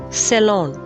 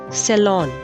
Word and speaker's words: salon: once in a while it's pronounced as salon ceylon or salon both are correct next word is executive